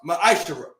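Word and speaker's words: מעשר: means tenth in Hebrew and is pronounced ma'ashara.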